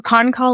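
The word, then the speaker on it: Pahn Kahl: How do you pronounce that? Idris or Ponkal? No. Hello. I Ponkal. think hello. Oh, Ponkal. Ponkal is Okay.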